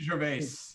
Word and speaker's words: Gervais: And to see Ricky, I don't know how to say his name, Gervais or Jervis or whatever. Ricky Gervais.